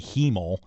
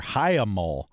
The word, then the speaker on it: hiemal: I thought it was going to be hemol, and I don't like that either. So this word, just get it out of here. Hyamol. Hyamol.